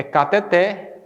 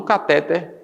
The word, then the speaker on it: cateter: Então, nesse caso aqui, gente, a prosódia aqui da palavra é cateter e ureter, não catéter e ureter, como muitos pronunciam.